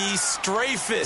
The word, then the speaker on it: Strafen: It was held in mid-December, and your winner, I.B. Straffen, or is it I.B. Strafen? You've got the pronunciation guide. I.B. Strafen. Strafen. My bad, Mr. Strafen.